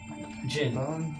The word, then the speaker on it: Djinn: Jin. Gin, old boy. I'm Gin. mispronouncing that on purpose.